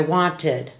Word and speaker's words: wanted: as the same syllable only for verbs that end in D or T do we add a second syllable for the e d like the word want today I want yesterday I wanted we have to do